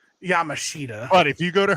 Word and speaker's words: Yamashita: Bro, when you literally, when I just heard you say Yamashita, my heart, I don't know if it's all the fast food that's getting to me or the fact.